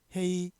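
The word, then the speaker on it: 黑: 중국 발음은 기억 받침이 없으니까 헤이 이렇게 발음 됐죠.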